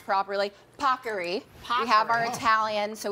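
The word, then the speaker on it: paccheri: as the Today Show team made sure I pronounce properly pocker we have our Italian so we want to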